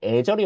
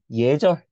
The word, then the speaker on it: 예절: 이것도 예 여러분 살면서 야 너 정말 애절이 없구나 이렇게 말하는 사람 본 적 있어요 없잖아 우리 다 뭐라 해 예절 이렇게 말하잖아 그래서 우리가 얘는 에러도